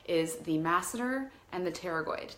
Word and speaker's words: pterygoid: Just know that the 2 main muscles that we're working with in the jaw is the masseter and the pterygoid. Pterygoid spelled like a T, like pterodactyl.